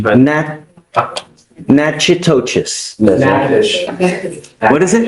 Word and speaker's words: Natchitoches: I butchered the pronunciation, but Natchitoches. Yes, What is it? Natchitoches.